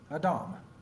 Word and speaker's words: Adam: several studies back that the name of Adam literally means man or better yet human and is pronounced Adam well keeping that in mind